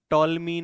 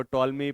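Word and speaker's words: Ptolemy: इसको टॉलमी पढ़े, पिटोलमी पढ़े, ये बड़ी दिक्कत है ना इंग्लिश में। कभी पी साइलेंट, कभी टी साइलेंट, समझ में ही नहीं आता है। तो टॉलमी ने भीलों को नाम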